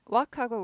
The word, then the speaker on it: walk: 이번 기회에 walk하고 work하고 발음을 확실하게 알고 가자고요. walk는 걷다. L이 묵음이죠.